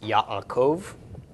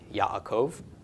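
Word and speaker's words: יעקב: quote me on that but anyway regardless it's pronounced Yaakov Yaakov and so yeah there's not much correlation between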